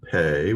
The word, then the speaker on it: Pe: Here's a pay with dogish, not fey, but pay.